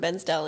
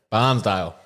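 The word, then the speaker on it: Bairnsdale: one where you from I from benale in Victoria barnesdale not you're saying it wrong no no not like the locals do tell you're in out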